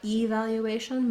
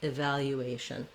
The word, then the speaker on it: evaluation: That means that our first syllable, letter E, is unstressed and it sounds like an I. So not evaluation, but rather I, evaluation.